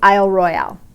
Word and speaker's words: Isle Royale: ferry anyway out to Isle Royale which the people on Isle Royale say Isle Royal but it's spelled Royale so I might be saying it wrong but Isle Royale is a national park